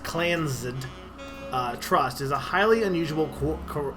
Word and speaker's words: Clans: The Clans, pronounced Clansed, Trust is a highly